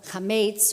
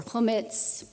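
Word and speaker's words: chametz: clean our homes of all the hamates or homits pronounce it differently for PESA carefully to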